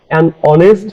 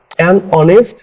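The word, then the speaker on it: honest: ব্যবহার করি যেমন ধরো অনেস্ট man hour অনেস্ট man hour ইত্যাদি এখানে দেখো অনেস্টের এইচ এর উচ্চারণ কিন্তু হয়নি যে কারণে উচ্চারণ হয়েছে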